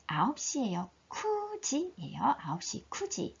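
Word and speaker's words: 九時: 쿠지예요. 9시 쿠지. 자, 큐지라고 읽지 않고 쿠지라고 읽는 거 기억해 주시고 9월도 마찬가지 큐가츠가 아니고 쿠가츠.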